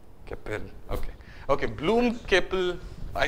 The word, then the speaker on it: Capel: Bloom is fine, and how, Capel, or how do you pronounce the next person? Capel, or? Capel. Capel, okay.